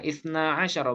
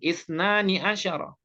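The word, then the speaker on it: اثنا عشر: Nah, itu makanya bacanya ja'a ithna asyara. Ya, ithna asyara bukan ithnani asyara.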